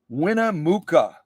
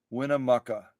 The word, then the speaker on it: Winnemucca: me back this machine that was shipped from Winnemucca winna Muka I hope I got that right